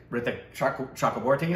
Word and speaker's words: Ritwick Chakraborty: Ritwick Chakraborty. That's how you pronounce that, right?